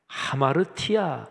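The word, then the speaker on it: ἁμαρτία: 수 있는 능력이 없습니다 죄 라는 헬라어 단어가 아마르 티 야 이렇게 발음합니다 근데 그 원래 어휘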